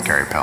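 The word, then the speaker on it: Queripel: I honestly did not know how to pronounce Maddie's last name. Nobody does. Until I met her and slowly waited for people to tell me how to pronounce his name. Madeline. Carrie Pell. It's Carrie Pell.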